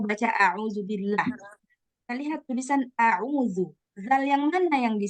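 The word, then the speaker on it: أعوذ: Nah, maka kita akan otomatis bacanya a'udzu. A'udzu. Dikeluarkan lidahnya.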